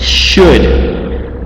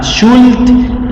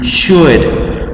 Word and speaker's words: should: very well this word, should. This is not should, okay? This is not should, it is should, okay? You don't pronounce the L, you don't pronounce it, okay?